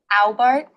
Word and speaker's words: Albart: How do you say it? Albart. Albart? Ow, I could stub my toe. Ow. Albart. Okay.